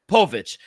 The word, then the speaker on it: Povich: Bobby Miller and Kade pav how do you pronounce his last name pvic Povich you know they're two starters I I think